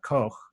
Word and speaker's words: Koch: that's credited to Robert Koch uh that's a hard word to say but I try to say it in the proper German pronunciation and um it's just